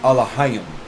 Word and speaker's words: Elohim: But is Elohim? In English, you're going to see it as Elohim. In the Hebrew, it's going to be pronounced Alahayim.